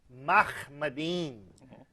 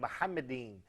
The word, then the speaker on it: Mahmadin: First of all, that is a mispronunciation of the Hebrew term, which is Mahmadin, not he said Muhammadin. But even that eem is wrong, but he did not pronounce the Hebrew khe. It's Mahmadin.